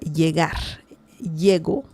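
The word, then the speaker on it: llego: Yego. It's a different pronunciation because in predict past tense you can say elgo.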